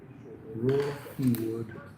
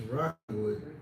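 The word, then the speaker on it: Rahkewood: with interest for 613 Raw Hewood Drive. It's Rockwood, but it's spelled funny. So I tried to say it the way it was spelled. It's Ra, R-A-H, K-E, Rockywood.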